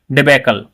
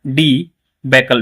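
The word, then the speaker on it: debacle: continuous लगातार डिबेकल तो डिबेकल यह नहीं होता यह होता है डी बैककल बी ए सी एल E deceive deceive की बहुत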